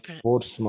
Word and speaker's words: Portsmouth: And it's like mouth. Mouth. Portsmouth. But we pronounce it Portsmouth.